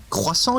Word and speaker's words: croissant: So the English people really battle with the R sound. It comes from the back of the throat. So it's called a croissant. The R is very harsh.